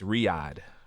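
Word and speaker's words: Riyadh: how to pronounce this this isn't Saudi Arabia it's Riad Riad Saudi Arabia I'm sure I'm not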